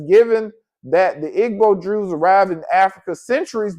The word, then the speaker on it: Igbo: of the members of the Igbo, Ebos, pronounced Ebo tribe, right?